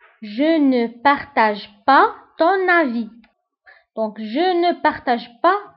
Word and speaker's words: avis: Je ne partage pas ton avis. Donc, je ne partage pas ton avis. Enfin, l'avis هو الرأي. Je ne partage pas ton avis. وبالنسبة للأفي نكتبها بإس في آخر الكلمة ولكن ما كنطقوهاش.